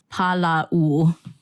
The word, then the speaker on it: hālau: for people listening who can't see yeah it's Paulo in Hawaiian Lau can mean plentiful law also